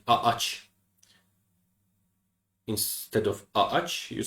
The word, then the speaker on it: ağaç: So what does soft G do? It connects two vowels or prolongs a vowel. That's it. So in the example ağaç, it just connects them to prevent saying ağaç.